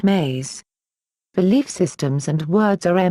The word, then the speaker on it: ME: We will examine this story once and for all because it is the backbone of all belief systems, which we will call MEs, pronounced maze.